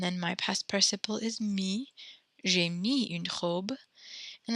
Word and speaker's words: mis: Mettre is mis. You pronounce that mi. You don't pronounce the S, but it's M-I-S.